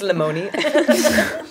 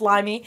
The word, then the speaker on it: Lemony: Yeah, it's Lemony. You're like, it's limey. I got the wrong fruit.